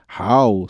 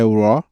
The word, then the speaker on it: RAW: que é Raw é Tem gente que fala How sei lá o que e tal mas a pronúncia iso é inglês né é Raw log e a tal rec